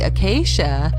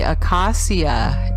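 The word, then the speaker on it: akasya: philippines it lists the acacia a-k-a-s-y-a as a medicinal plant acacia is phonetically the same as acacia a-c-a-c-i-a notice too acacia looks very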